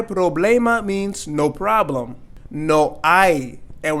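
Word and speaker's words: hay: means no problem no I and we're not going to say no hi their age is silent no I no I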